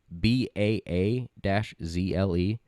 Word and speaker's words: basil: It's not basil. It's BAA-ZLE. Basil. That's how I would pronounce that.